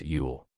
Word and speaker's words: ULL: in uncontrollable limited leverage or ull pronounced yule if you need help